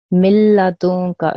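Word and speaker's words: مِن لَدُنكَ: So how I would say this is milladunka, okay? Not milla, milla. I'm ignoring this noon sakin here.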